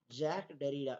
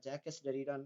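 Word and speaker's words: Jacques Derrida: Deconstruction இந்த deconstruction அப்படின்னாலே அது யாரு கூட ரிலேட் ஆகணும் அப்படின்னா ஜாக் டெரிடா. இது ஆக்சுவலா ஜாக் டெரிடான்னு ப்ரொனவுன்ஸ் பண்ணணும். ஓகே, ஜாக்கஸ் டெரிடான்னு தான் இருக்கும் spelling, but it should be pronounced as ஜாக் டெரிடா.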